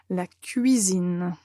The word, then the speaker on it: la cuisine: plus vite possible maintenant il faut vraiment prendre le temps et prononcer bien toutes les voyelles la cuisine après nous avons la